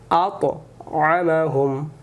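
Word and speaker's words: أَطْعَمَهُمْ: এখানে নরম করে আল্লাযী আত'আমাহুম। আমরা এখানে বলি আত, আত মুখটা গোল হবে, আতআমাহুম, এই যে হু এ মিমে যাবে, এ মিম বাদ যাবে, এখানে ওয়াজিব গুন্না দেবে। আতআমাহুম মিন জুউ, মিন জুউ।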